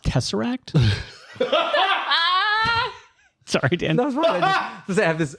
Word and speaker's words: Tesseract: five I love good taser acting I'm a sucker for good taser acting and now I just have this wonderful image of it's actually pronounced Tesseract sorry Dan I have